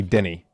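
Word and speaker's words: dinnae: duu n n y you don't spell it that it's it be d i n n a e it's Denny okay maybe maybe I maybe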